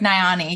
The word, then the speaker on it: Nayani: And, Nayani, Mm-hmm. is that how you say it? Perfect. Nayani.